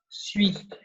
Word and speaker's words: suis: And to be for I, it's pronounced suis.